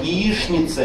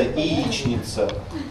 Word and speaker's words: яичница: То же самое яишница. Яичница. Много вы встречаете людей, которые будут говорить яичница? Говорите, да? Хорошо. Ну немного, видите? То есть, ну говорите и говорите. Так, вроде бы тоже по словарю можно, но произношение яишница действительно более распространённое.